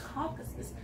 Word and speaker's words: Caucasus: Turkey and the Caucasus. Caucasus.